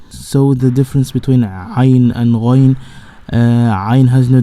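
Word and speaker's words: عين: Most of people has difficult in pronunciation the Ain letter. So say Ain, Ain. So it is Ain. You can imagine that a person falls down from a higher place. He will say ah, yeah, great.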